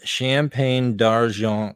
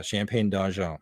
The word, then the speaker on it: Champagne d'Argent: They're called Champagne d'Argent rabbits. So you have to say that with your nose in the air and say it like you're from the other side of Canada.